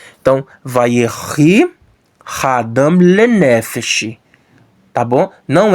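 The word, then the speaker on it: וַיְהִי: É vayerri, tá bom? Esse shivá aqui é pronunciado, porque tem um metg aqui que está tornando o patá longo. Então ele é pronunciado sim. Então, vayerri hadam lenefesh.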